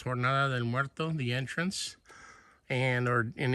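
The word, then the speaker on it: Jornada del Muerto: ahead over there that is the in spanish pronounced tornado del muerto the entrance and or in english the journey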